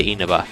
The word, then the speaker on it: Inaba: I hear it pronounced Inaba or Inaba. I say Inaba, because that's what everyone else should say.